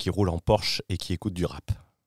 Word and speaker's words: Porsche: Alors, première remarque, la prononciation en allemand est mauvais. C'est Porsche.